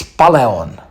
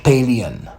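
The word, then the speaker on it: Palleon: Second is Paleon, not Paleon.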